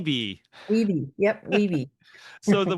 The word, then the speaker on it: Wibee: So this YB, that's how you say it, YB, right? Weeby. Yeah, we say Weebee.